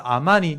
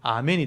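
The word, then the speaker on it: אמן: 하나만 다르잖아요 요거 보이죠 요거는 아 발음이고 요건 애 발음인 거예요 그래서 아만 하면 동사가 되고 아멘 하면 이제 부사가 되는 거예요 그 차이지 뜻은 똑같아요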